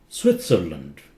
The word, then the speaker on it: Switzerland: sounds like fluid Oxford Switzerland Switzerland T is pronounced it's not silent Switzerland you see it's